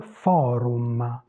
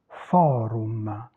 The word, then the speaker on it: forum: Tous les mots qui se terminent avec le U et le M, en italien se prononcent tel quel. Il forum, forum.